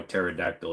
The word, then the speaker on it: pterodactyl: because it doesn't understand why pterodactyl is spelled with a p thank you for chiming